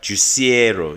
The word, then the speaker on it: Juicero: again Silicon Valley startup called uh Jero if I'm saying it right juicero yeah Jero um company was